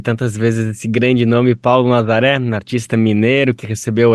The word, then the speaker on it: Paulo Nazareth: Então, cada vez que se pronuncia Paulo Nazaré, né, também é uma reverência ao nome.